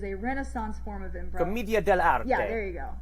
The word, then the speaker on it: Commedia dell'arte: The Harlequin is an archetype from A Mask from Commedia dell'arte, which I am mispronouncing, but it is a Renaissance form of improv. Commedia dell'arte.